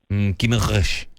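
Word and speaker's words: Guimarães: Guimaraes. Guimaraes is how you say it.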